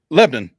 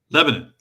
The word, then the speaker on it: Lebanon: him, you you uh corrected me on my pronunciation of Lebanon. Did I do it right that time? Lebanon. Lebanon. Lebanon.